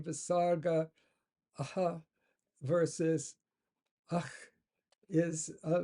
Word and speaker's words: visarga: The Visarga is often pronounced similar to ch in German Bach or Scottish loch. Okay, often pronounced similar to ch in German Bach or Scottish loch, but slightly weaker. You may also hear it pronounced like a standard ha, with a weak repetition of the preceding vowel, making naraha, naraha.